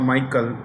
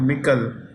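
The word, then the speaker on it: Michel: European Council European Council Charles or some people called Michael it's actually Michael he's a former Prime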